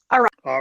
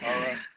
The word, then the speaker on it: Ariah: Ariah, like Mariah without the M. Yeah. Sorry about that. Ariah.